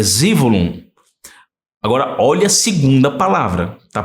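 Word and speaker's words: זבולון: Então, a palavra Zevulun tá Zivulun. É a pronúncia hebraica, é Zivulun.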